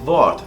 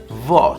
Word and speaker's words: Wort: En alemán la W se pronuncia como una B, haciendo vibrar el labio inferior. Os voy a poner un ejemplo y veréis que es bastante fácil. Das Wort, la palabra.